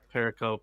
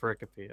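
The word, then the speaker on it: pericope: Uh cuz the first the first time I saw it saw it too, I thought it was paracoup, but then I was like, "Oh, it's actually pronounced paricopy."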